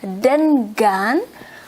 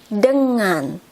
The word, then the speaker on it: dengan: of pronounce it as then gun we pronounce it as um like when you have to say ringing that an and G in the ringing is mm that's why we say it as Denman instead of them gun